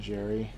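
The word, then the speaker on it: Ger: G-E-R, I'd say, like Jer is in Jerry.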